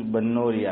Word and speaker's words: بنوریہ: ہوتا ہے۔ جامعہ بنوریہ، بعض حضرات زیر پڑھتے ہیں بنوریہ اور بعض زبر پڑھتے ہیں۔ حضرت مولانا عبداللہ صاحب کاپودروی رحمۃ اللہ علیہ کی تحقیق یہ تھی کہ صحیح تلفظ بنوریہ ہے، با پر زبر ہے، فتحہ ہے۔ تو آن لائن جو